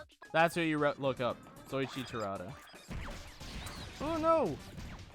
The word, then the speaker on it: Soichi Terada: Soichi Terada. Oh no! That is Soichi, and then Terada is spelled as it sounds.